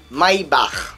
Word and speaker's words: Maybach: Maybach, en principe, ça se dit à l'allemande. Maybach.